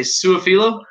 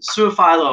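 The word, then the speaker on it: Su'a-Filo: Kevin Fanfleal and Xavier, what do we say, Suafilo? Yeah, Suafilo. Right. Suafilo. That's a hard last name. His name has been mispronounced his entire life.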